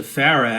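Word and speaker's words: FARA: ask what is a pharah as in a pharah fawcett my favorite charlie's angel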